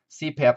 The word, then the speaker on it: CPAP: the example used here CPAP stands for continuous positive airway pressure and what is unique about an acronym is that we can actually put it together and pronounce it as a word so CPAP in this case and